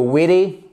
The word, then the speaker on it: witty: Donc, pour moi, ça sera plutôt witty, with an American accent, ok? Et là, vous voyez qu'en fait, sous le T, vous avez un mini arc de cercle qui